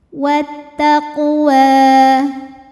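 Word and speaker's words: وَالتَّقْوَىٰ: Wat taqwa ini hukumnya adalah mad thobi'i muqaddar. Karena huruf wau berbaris fathah panjang. Cara bacanya panjang dua harakat.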